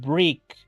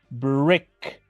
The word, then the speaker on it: brick: no existe si lo pronunciamos como en español diríamos brick y eso es incorrecto en inglés es brick brick este es un un